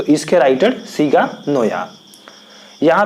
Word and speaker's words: Naoya: तो इसके राइटर सीगा नोया। यहाँ पे दोस्तों जो NAOYA है इसको आप नोया ही पढ़ें, ये अपने अपने प्रोनाउंसिएशन के अनुसार आप पढ़ सकते हैं।